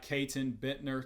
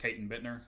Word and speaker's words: Caton Bittner: grill room my guy Kon Bitner Toronto's own Kayon I'm GNA try so hard to overcome my Southern accent and properly pronounce the te's in your name not Kon Bitner um so call me